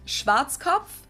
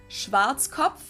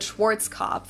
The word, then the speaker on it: Schwarzkopf: In German, we pronounce it Schwarzkopf, which literally means black head. Schwarzkopf. English native speakers usually pronounce it Schwarzkopf or Schwarzkopf or something along those lines.